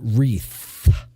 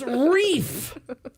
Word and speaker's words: wreath: you said something and you said the word wreath mhm th H uhhuh how it's spelled and Miss smarty pants over here turns around and hits him and she's like idiot it's reef and then he's like